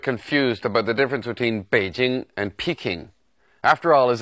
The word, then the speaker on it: Beijing: popularized many years ago the city's name is pronounced Beijing and it should be spelled in English with